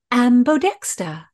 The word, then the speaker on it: ambodexter: Philadelphia how do you spell that word it is spelled a m b o d e x t e r ambodexta this word of course relates to the term